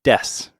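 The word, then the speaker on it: です: But that's almost always, you just don't pronounce the U at the end. It's just des instead of desu. Yeah. But you might also hear desu sometimes.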